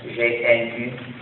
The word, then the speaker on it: GNU: que selon le dictionnaire le G et nu et le mot se prononce N c'est-à-dire nouveau donc chaque fois que tu veux écrire le mot new tu peux l'écrire GNU il c'est un jeu